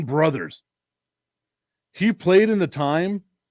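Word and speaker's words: Brouthers: And he doesn't even spell it correct. It's B R O U T H E R S. Dan Brothers.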